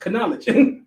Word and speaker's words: knowledge: knowledge knowledge once again you don't even pronounce the k it pronounced knowledge or pneumatics P pneumatics